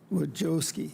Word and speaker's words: Wojcicki: Wojcicki, did I say it wrong?